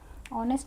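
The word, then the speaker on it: honest: ऑनेस्ट में भी same हमारा साउंड क्या आता है? ऑनेस्ट, ऑनेस्ट पर्सन, तो हमारा साउंड क्या आया? अ आया।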